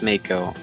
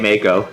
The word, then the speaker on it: Mako: Yes, it's pronounced Mako. I don't care what anybody else thinks. I say Mako, so. It is Mako. Because we are talking about the Mako shark.